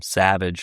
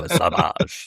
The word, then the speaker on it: Savage: I mispronounced it the whole time. I kept calling him Savage and it's like no Savage.